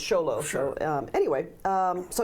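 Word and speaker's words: Xolo: even though it starts with the next it's pronounced sholo so um anyway um so yes there is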